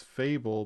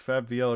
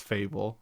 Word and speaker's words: Fable: Because I think it's Fable, but I think it's Fab VL every time I say it. So many people say Fab VL. So funny. No, it's Fable. It's Fable.